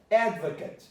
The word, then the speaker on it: advocate: But here you have ads, advocate, advocate. So the stress is on ad, so it becomes an ad, then vacate.